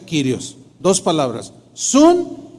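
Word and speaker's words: κύριος: verdad es Sun y kirios curioso según es se pronuncia kirios dos palabras Sun y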